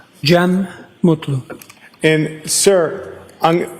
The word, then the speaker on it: Cem: It's officially spelled CM. Uh, last name M U TLU. I also spell it with a G. Gem M.